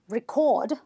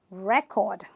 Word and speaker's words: record: of a noun okay the next word is record not record but record you need to keep a good record so again this is a two syllable word it is a noun and therefore I don't say record I stress the first syllable which is this part and I say record we have another word